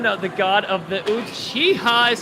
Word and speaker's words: Uchiha: How do you pronounce it? It's exactly how you're doing. Uchiha. Uchiha.